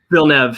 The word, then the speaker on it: Villeneuve: Villeneuve, yeah.